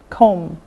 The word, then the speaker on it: comb: a first note note comb comb now again this is silent it's silent comb no B com cop cope coat